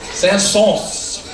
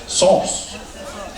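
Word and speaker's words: Saëns: Sauce. Sauce. Like some sauce that you get on the duck fat.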